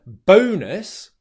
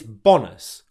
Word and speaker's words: bonus: saying the word bonus, you're using the O diphthong. One of the most common mistakes that people have difficulty with in English is pronouncing the O diphthong as a short O vowel sound. So instead of bonus, instead what I hear is bonus. And that can sound unnatural to native English speakers.